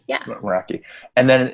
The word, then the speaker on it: Meraki: I don't know how to pronounce it. I think it's like Meraki. Yeah. Meraki.